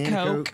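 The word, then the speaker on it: Nanticoke: Yes, Did I say it right? Nanacoke. Yep, like the river.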